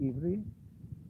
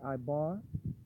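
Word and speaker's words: עברי: Jewish people, they pronounce it the Ivri. Ivri means Êvê. Ivri, some people say Ibar, some people say Abri, Ibarya.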